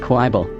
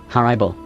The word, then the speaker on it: horrible: proper O sound, like horrible. On the other hand, I pronounce it with an A sound, like in hard, horrible.